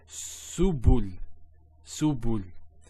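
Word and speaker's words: سُبُل: So su, bu, and this is the lam, like the letter L. So subul, subul.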